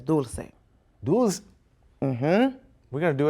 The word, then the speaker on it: Dulcé: name correctly oh no because like the i guess american english pronunciation is dolce yeah but the real pronunciation is dulcine mm-hmm we're going to